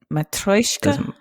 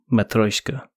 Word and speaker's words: Matryoshka: Did I pronounce the game completely incorrectly? First of all, yes. Maybe a little bit. Matryoshka. Matryoshka.